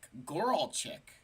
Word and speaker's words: Goralzik: All right, let's get to Goralzik. Did I say that right? I'm not up to not that I am not known for my pronunciation. Goralchik. Okay, now I'm an idiot.